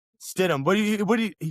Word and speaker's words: Stidham: I've asked that dude probably 6 times how to pronounce that backup quarterback's name, and I still forget it, bro. It's, Jared Stidham. Stidham.